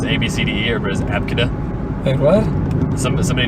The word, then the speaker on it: Abcde: it's ABCD or was Abka? What? Some somebody named their kid Abka, but it was spelled ABCDE.